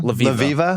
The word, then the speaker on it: Levieva: Levieva.